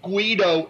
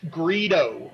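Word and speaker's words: Greedo: no it's it's it's it's not Guido it's greo like GRE oh oh [ __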